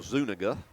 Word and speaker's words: Zuniga: So Zuniga is how they pronounce his name.